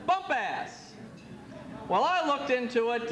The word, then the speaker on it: Bumpass: down by Lake Anna small quaint town of Bumpus or as Pat in his wonderful ways of pronouncing pronouncing words says Bumpass well I looked into